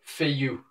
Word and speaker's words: Feillu: Feillu. Now, as in many French words, half of it's not pronounced, so the two L's are basically, well,